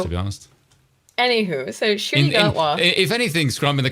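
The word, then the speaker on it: Ncuti Gatwa: His name is pronounced Shooty Gatwa.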